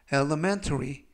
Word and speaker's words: elementary: 이때 강세는 가운데 부분에 있는 알파벳 E에 강세가 있습니다. 그래서 elementary 라고 발음하시면 되겠고요.